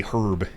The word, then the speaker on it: herb: Oh yeah, you say herb in the US. I mean in the UK. What do you say? You say herb. The H is silent for some reason.